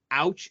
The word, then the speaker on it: Aewch: and i'm just like it sounds it's it's ouch you say it like you're ouch as in pain that's usually what i say see i thought it